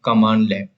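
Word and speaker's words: cmdlet: So every command in PowerShell called as a commandlet. So you can say it is called as a commandlet or pronounced as a commandlets.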